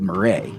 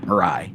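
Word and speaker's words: Miray: Turkish cruise line operator called Marray or Marai, which I think is the Turkish pronunciation. Um, I'm just going to go with Marai.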